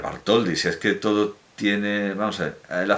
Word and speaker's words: Bartholdy: hermana jacob salomón bartholdy voy a pronunciar vaart hol dice es que todo tiene